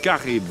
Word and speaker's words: Charybde: On dit Caraïbes.